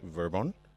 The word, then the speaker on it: Vir-Bon: right okay um so my first name is pronounced verbon um then my last